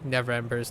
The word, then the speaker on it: Neverember: I remember I had trouble pronouncing Neverember's name because I have this habitual need to say never remember by like adding that extra syllable, but it's Neverember.